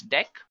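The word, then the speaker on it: deque: It is written as DQ, but we can pronounce this as deck now talking about deck what actually it is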